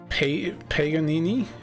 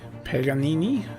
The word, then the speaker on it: Paganini: It was supposed to be uh Paganini. Paganini, something like that.